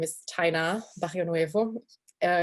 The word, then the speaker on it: Taina: said my name is taina nuevo uh it's really tricky to pronounce my name um uh so i always like to say it's china with a t that's the the correct way to pronounce it but you know